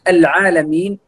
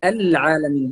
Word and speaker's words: العالمين: أن ننتبه على اللام العالمين. بعضهم يقول العالمين وهذه خطأ، نقول العالمين، العالمين، هذه الصحيح، ليس العاء، العاء، كأنه فخم اللام وفخم العين، وهذا من الأخطاء التي يخطئ بها كثيرا من القراء هنا في إندونيسيا.